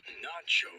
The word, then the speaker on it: nacho: Nacho rhymes with macho for a reason.